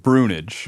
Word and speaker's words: Brunage: though, but we pronounce it Brunage. Brunage. So if you asked me to phonetically spell Brunage, it would not be what I would say because it's Braunuga or something like that, which you said means Brown Island.